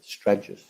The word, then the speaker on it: Stragus: In relation to Harris, how do I pronounce his surname? Harris Stragus. Harris Stragus.